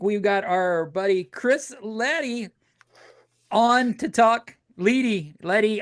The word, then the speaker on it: Leddy: Uh, we got Jason and this week we've got our buddy Chris Lety on to talk lady.